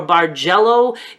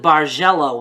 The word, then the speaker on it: Bargello: bar jello gives you I think I'm gonna go with bars yellow that sounds easier to say I hear it both ways and I even looked up the pronunciation and it's acceptable both ways so again that's what